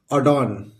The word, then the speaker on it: adorn: ADORN इसको पढ़ेंगे, यहां भी आर साइलेंट होता है, अडॉन। इसको पढ़ेंगे दोस्तों अडॉन। क्या पढ़ेंगे? अडॉन।